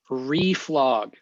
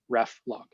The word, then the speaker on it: reflog: i'd probably throw git reflog uh reflog i love that pronunciation the ref log yes sorry i'm canadian